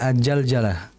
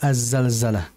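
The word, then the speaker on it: Az-Zalzalah: dalam pengucapan huruf Za jangan dibaca ajaljalah ya yang betul adalah azzalzalah sama seperti zulzila jangan sampai diganti zuljila jangan sampai Za diganti dengan Jim ya jangan sampai julilatil u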